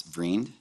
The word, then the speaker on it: Vriend: pronunciation, but in Canada, what is the real Dutch pronunciation? Like it's like vriend.